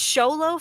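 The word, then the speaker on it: Xolo: you pronounce his name it's sholo for the first the first name the X but I don't know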